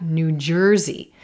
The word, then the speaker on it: New Jersey: We've got New Jersey, New Jersey. Again, I'm not stressing the word new.